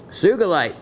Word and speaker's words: sugilite: on a piece of Sugilite with the hard G.